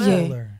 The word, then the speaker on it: Solar: Solar. 이상한가요, 그게? Solar. Like- 한국말로는 솔라잖아요. Like 네. solar, 네, lunar, the sun. solar. Solar. Solar? Yeah, I say It's fine. I said solar.